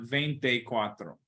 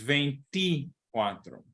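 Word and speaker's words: veinticuatro: venti cuatro vente cuatro we don't want vente cuatro it's veinti cuatro okay we don't want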